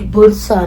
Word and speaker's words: Bursa: इट वाज़ बुरसा, नॉट बुरुसा। आई was pronouncing it wrong.